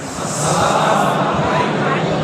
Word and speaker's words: আসসালামু আলাইকুম: বলেন তো সবাই একটু আসসালামু আলাইকুম। আচ্ছা, দিছেন তো? এই সালামের ভিতরে 2টা কমন ভুল হয়। কি কমন ভুল? বলে শুরুতে যে হামজা, এই উচ্চারণটা ঠিক হয় না।